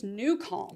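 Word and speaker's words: NuCalm: It's Newcom.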